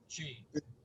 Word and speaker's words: qi: It's actually the QI is pronounced like a CH, chi, Chi, qigong.